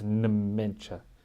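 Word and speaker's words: Nmecha: That wasn't me saying it wrong. That's his name is spelled with an N and then an M. So it's Mencha.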